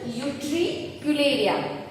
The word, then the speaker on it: Utricularia: Okay, what is the pronunciation? Utricularia.